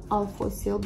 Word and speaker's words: Alphosyl: I always mispronounce this, it's Alphosyl, but never mind.